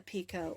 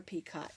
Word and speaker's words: picot: I'm going to do what's called a picot or pjot, depending on how you pronounce that.